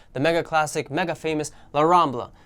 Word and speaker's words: La Rambla: mega classic mega famous La Rambla or you know, actual pronunciation La Rambla.